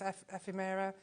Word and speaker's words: ephemera: Because these are all your tags and labels, and which I can never pronounce, ephemera. Ephemera. Ephemera, I never pronounced it right.